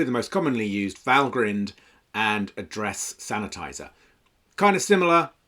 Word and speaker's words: Valgrind: So Valgrind, often mispronounced Valgrind. I assumed it was some kind of portmanteau of value grinder, but no, it's Valgrind.